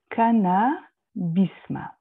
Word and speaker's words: Cannabisma: Et je me réfère pour la prononciation à la prononciation des Israélites de la Galicie, ancien royaume de Pologne, pour la voyelle I dans Bisma.